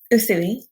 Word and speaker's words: Usui: Well, how do you pronounce his name? Usui.